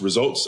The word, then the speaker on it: RSVLTS: Yeah, it's so I think it's the company's name, I believe, is pronounced Results, I'm assuming, but the U is a V.